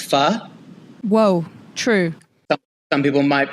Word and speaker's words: pho: It reminds you how to pronounce pho. Whoa, true. Some people might be out there calling it pho. And they said it's fanatic. It reminds you of the word fanatic.